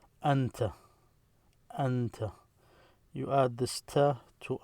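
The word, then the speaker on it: أنت: So you see, this is a Hamza, this is an N, this is a Ta. The way you call these letters separately, Hamza, Noon, Ta. When you pronounce it and you write it script form like this, it's Anta, you, Anta.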